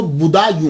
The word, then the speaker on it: بدایوں: گے، مسلمان بھی ہیں۔ اس کا تلفظ جو ہے وہ بدایوں ہے، کیونکہ یہ پرنس بوڈا جو ہے نا اس کے نام کے اوپر اس سے یہ منسوب ہے، تو اس لیے اس کو بدایوں کہا جاتا ہے۔ لیکن بعد